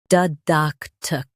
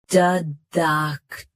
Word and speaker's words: didactic: Didactic. Didactic. Stress duck. Keep d soft and end with tic.